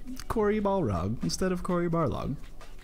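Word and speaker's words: Barlog: and the developers they they talk about Corey bar log and all of them mispronounce his name and they say Corey Balrog and it makes me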